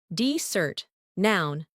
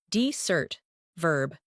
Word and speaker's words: desert: Desert noun versus desert verb.